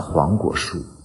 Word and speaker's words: 黄果树: 黄葛榕树、黄葛树，念快了就念成了黄果树，所以黄果树就是这么来的。